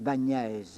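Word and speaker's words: Báñez: le grand théologien Bagnès, on prononce Niès, Bagnès, hein?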